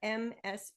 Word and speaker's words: Ms.: MS period. And we pronounce that Ms.